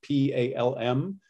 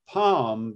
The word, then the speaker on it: palm: one of them because the first one he calls the palm vowel p-a-l-m but most americans don't say palm they say palm palm in the palm